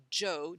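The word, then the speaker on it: 九: The number nine pronounced joe j o e in Chinese.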